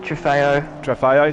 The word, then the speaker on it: Trofeo: So especially the Super Trofeo, if that's how it's pronounced. It probably isn't. Trofeo, thank you, mate.